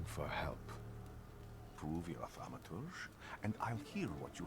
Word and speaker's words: thaumaturge: I'm a Thaumaturge. A thaumaturge. Where are you coming from? That's how you pronounce it.